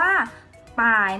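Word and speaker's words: 百: ไป ด้วย นะ คะ ร้อย ใน ภาษา จีน คือ ฝ่าย นะ คะ อ่าน ออก เสียง ว่า ป้าย นะ คะ ตาย ร้อย ถ้า เรา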